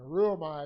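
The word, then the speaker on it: ὠρύομαι: o m a i and a rule by is supposed to sound kind of like a line you know am i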